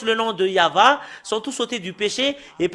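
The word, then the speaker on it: יהוה: C'est le livre de Torah qui stipule bien que c'est Yahva qu'on le prononce, et c'est avec cela qu'on le prononce au ciel des cieux, Yahva. Et tout ce qui prononce le nom de Yahva sont tous ôtés du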